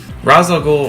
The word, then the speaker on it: Ra's al Ghul: Number 3, Ra's al Ghul. Ra's al Ghul, or Ra's al Ghul, no matter which way you choose to pronounce it, he is a very big deal.